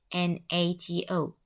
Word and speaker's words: NATO: This acronym is pronounced as a word, not as letters, not as NATO, but it is pronounced as NATO, as a word.